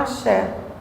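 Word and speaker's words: Axé: de um fluxo que se chama Aché né Eh se escreve A S E aé esse Aché é o que liga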